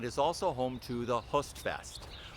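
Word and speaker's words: Høstfest: Host is spelled H-O. It's an O with a slash through it. I found out that in Norwegian and Danish languages have this O, which is pronounced kind of like Hostfest.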